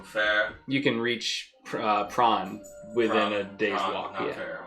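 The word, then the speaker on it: Pran: you can reach uh prawn within a day's walk here are we are we close to shrimp right now p-r-a-n pronounced prong not fish near the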